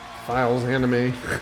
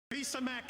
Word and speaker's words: Fils-Aimé: Give it up for Reggie Fils-Aimé. God, remember everybody tried to figure out how to say his last name? Files Anime. He's like, I made you. Fils-Aimé is in the house.